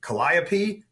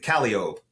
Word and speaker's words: Calliope: they said they said this way, like it's supposed to be Calliope, but we pronounce it Calliope.